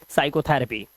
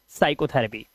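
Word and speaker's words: psychotherapy: और नीचे जो वर्ड है उसमें भी एस से पहले पी है। तो पी को हम उच्चारित नहीं करेंगे और इसे पढ़ेंगे साइकोथरेपी। ठीक है? साइकोथरेपी।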